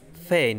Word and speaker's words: feign: তারপরে রেইন মানে রাজত্ব, REIGN, এখানে কিন্তু জি উচ্চারণ হবে না। তারপর হচ্ছে ফেইন মানে হচ্ছে উদ্ভাবন করা, FEIGN মানে ফেইন, এখানে জি উচ্চারিত হবে না।